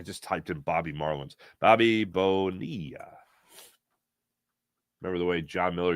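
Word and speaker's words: Bobby Bonilla: Bobby Bonia. Remember the way John Miller used to say his name on Sunday Night Baseball? Bobby Bonia.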